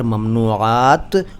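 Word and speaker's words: ممنوعات: देखिए, ये शब्द जो हैं अरबी के हैं, ये मैं बता चुका हूँ, लेकिन इनका अगर सही उच्चारण पूछें आप तो होगा ममनू और ममनुआ और ममनुआत और ममनूयत।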